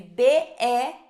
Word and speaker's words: Bell: Bell se escreve B-E-L-L, Bell, tá bom?